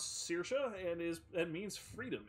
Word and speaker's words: Saoirse: or perhaps something more her name is pronounce Saoirse and is that means